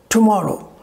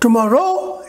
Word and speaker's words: tomorrow: Similarly, in the word tomorrow, the second syllable, more, will be higher than the others. How will you pronounce it? Tomorrow. Tomorrow. Tomorrow is not correct. Tomorrow is also not correct. How you will speak? Tomorrow. So the second syllable will be stressed.